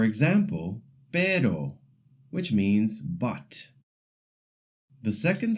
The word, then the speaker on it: pero: The first sound is the short tap R. It's a quick flick of the tongue, very light, almost like the t in the English word butter. For example, pero, which means but.